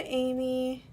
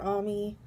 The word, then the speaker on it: Ami: so there's Usagi and Amy or ami depending on how you choose to pronounce it so I'll just go